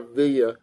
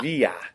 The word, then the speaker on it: villa: Yeah, the double L's, it's like a yeah. Villa. No, but in Spanish, it's Y. Right, like Villa.